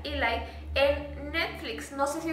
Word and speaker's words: Eli: se llama Eli, o Eli, pero bueno, se pronuncia Eli, en Netflix.